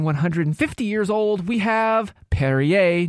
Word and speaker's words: Perrier: Following that, at a whopping 150 years old, we have Perrier. No, it is not Perrier. Perrier. Which rhymes with derriere.